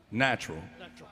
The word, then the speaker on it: natural: bill nat what's that natural natural it's only two it's only two syllables you know natural yeah not neutral at